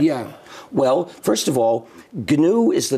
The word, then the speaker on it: GNU: Well, first of all, GNU is the name of the operating system I started in 1983. Yeah. It's pronounced GNU.